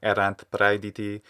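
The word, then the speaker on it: erant: from the classical period make sure you're saying errant without saying avoid that kind of little syllable it's not easy to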